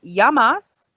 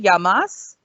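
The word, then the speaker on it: γεια μας: It's yamas. See, it's nice and easy, yamas. And this is actually how you say cheers. So when you're clinking your glasses of wine or ouzo, you'll say yamas.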